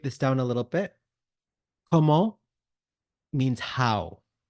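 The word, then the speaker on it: comment: name repeat after me KO course we're going to do it with a rising tone so this KO the t is silent and the all part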